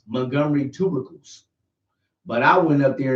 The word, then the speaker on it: Montgomery tubercles: I called them Montgomery tuberlocuses. I said Montgomery tuberlocuses. But guess what? Since nobody pronounced Montgomery tubercles.